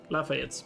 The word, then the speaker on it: Lafayette: The last E should be silent. Okay, Lafayette's.